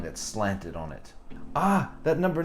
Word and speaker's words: あ: This is the first one, and it is pronounced ah. Now, in American English, it sounds kind of like father or car or ah.